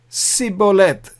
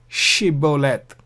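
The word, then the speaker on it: shibboleth: So this is the sibolet, whereas the previous one is shibolet.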